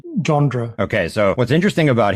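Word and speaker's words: Le Gendre: and this General um how how would you pronounce his name again I'd say jandre okay so what's interesting about him is he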